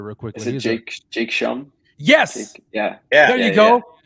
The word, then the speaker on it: Schum: Is it Shum or Shum? I don't even know how you pronounce his name.